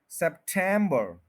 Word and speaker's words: September: Problem आता है कि लोग कहते हैं सितंबर, तो ये तो बिल्कुल ही गलत है, सितंबर। हम चलते हैं इसमें प्रोनाउंसिएशन गाइड में, वो है सेप्टेम और बर। 3 सिलेबल्स हैं और स्ट्रेस सेंटर में है, सेप्टेम्बर, सेप्टेम्बर। आप देखें कि टेम के ऊपर पूरा स्ट्रेस दिया जा रहा है, सेप्टेम्बर, सेप्टेम्बर।